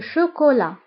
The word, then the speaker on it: chocolat: فانتبهوا بالنسبة لو شوكولا كنكتبوها بالتي في آخر الكلمة ولكن لا ننطقها. le chocolat. القشدة الطرية la crème fraîche la crème fraîche la crème fraîche هي القشدة الطرية.